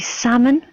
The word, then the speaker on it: salmon: let me just see salmon as well it's a difficult word as some people might be able might not be able to spell salmon there's a silent L so again a little